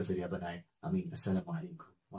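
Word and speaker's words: السلام: तो जैसे बताया गया अस्सलाम, अन्नूर, तो अल नूर नहीं है, अल सलाम नहीं है, असल में अस्सलाम है, अन नूर है, क्योंकि वहां हुरूफ शमसी मसला है।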